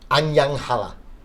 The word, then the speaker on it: Anyang Halla: You were playing at Anyang Halla.